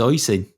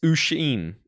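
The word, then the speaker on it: Oisín: So it's just Oisin. Mate, it's Ushin. It's Ushin. Oshin. Ushin. Yes, I've literally just Googled it. It's pronounced USH, little dashy thing, hyphen, EEN. Ushin.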